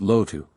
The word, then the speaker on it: Lotto: permit to call me just lotto in private she pronounced it loto and as it means